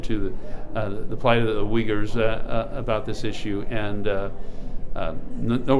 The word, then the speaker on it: Uyghur: Uyghur. We pronounce it as Uyghur. Easier way would be Uyghur.